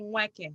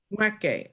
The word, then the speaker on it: Nweke: You swallow the N, so it's Nweke. You like swallow the N. Nweke.